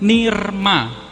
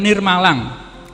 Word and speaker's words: nirmalang: Jadi ini kita tulisnya rema, tapi bacanya nggak boleh ni rema, nggak boleh. Jadi layar itu ikut bacaan huruf sebelumnya, sebelum yang ditumpangi itu. Jadi ini dibacanya nirma, nirma. Lanjut. Nah, ini la tapi ada anuswaranya, dibaca lang, nirmalang. Jadi ini bacanya nirmalang.